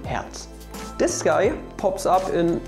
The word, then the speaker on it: Hertz: don't don't say it his name is just heads even in german you have two words his name heads and also you have the heart which you also pronounce as herz so it doesn't really make a difference in german but it really makes a difference in english don't pronounce him hurts pronounce him heads this guy pops up